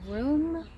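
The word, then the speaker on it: Rheum: common name uh the latin name is r-h-e-u-m room and then rap raponticum r-h-a-p-o-n-t-i-c-u-m so the the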